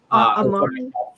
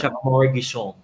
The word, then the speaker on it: Amaury Guichon: Amaury. Yeah. So Guichon. Chef Amaury Guichon.